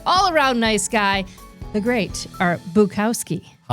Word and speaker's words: Bukowski: Yeah, you've been calling me Bowski. Buowski. Bukowski.